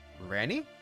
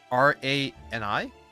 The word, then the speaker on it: Rani: Rani? R-A-N-I? Rani? So you are taking our acronym and sounding it out phonetically as a word for our name.